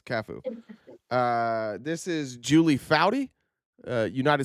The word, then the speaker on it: Cafu: Are you pronouncing that right? Well, yeah, I know soccer pronunciations. It's Cafu.